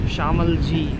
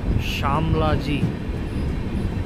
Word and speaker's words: Shamlaji: For reasons unknown to even myself, I don't know why I had been pronouncing this station's name as Shamalji instead of Shamlaji.